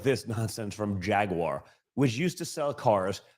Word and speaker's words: Jaguar: And by the way, it's Jaguar. If you're going to say it right, please. Jaguar.